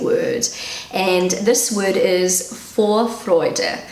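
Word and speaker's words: Vorfreude: and this word is for freude so that's how i pronounce it for freud and google pronounces it fourth freude this is like also a pronunciation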